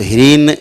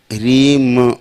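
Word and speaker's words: ह्रीं: जैसे कहीं आप पढ़ते हो, आता होगा बीज मंत्र में ह्रीम, तो ह्रीन नहीं पढ़ना है, ह्रीम माँ है, ह्रीम ऐसे मुंह बंद हो गया। ह्रीन तो मुंह खुला रह गया, ह्रीन। अगर ह्रीम तो मुंह बंद हो गया, ह्रीम ऐसे।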